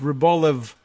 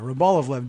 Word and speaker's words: Rybolovlev: It's Rybolovlev. I guess I didn't realize it was another L in there. Rybolovlev.